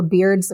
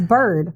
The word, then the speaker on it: Byrd: just as responsible for Beard's murder beard I keep saying beard cuz it's spelled b y r d so sorry it's Bird yeah for Bird's murder